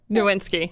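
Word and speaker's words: Nowitzki: dirk nowinski oh yes did i i never pronounced it right did i get it right you say his name dirk nowinski that's what so i didn't write okay very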